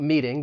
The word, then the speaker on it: meeting: And then I want to talk to you about meeting because the T in meeting, I am going to pronounce it with a flap T, which is more of like a soft D sound.